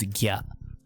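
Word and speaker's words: ぎゃ: So if you have the two twiddles for kya, it becomes gya.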